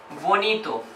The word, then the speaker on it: bonito: they like a boy in English for example Bonito Bonito significant nice good it's an adjective okay